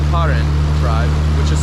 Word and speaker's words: Karen: But who comes up here to the Myanmar-Thailand border to experience the Long Neck tribe, which is, I haven't even mentioned, pronounced Karen tribe, which is spelled like Karen, K-A-R-E-N, but they don't have the same vibe as the Karens in the US.